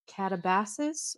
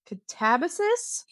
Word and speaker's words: Katabasis: We are reading RF Kuang's Catabases or Catabasus. We've heard it pronounced both ways. I believe the audio book says Catavis.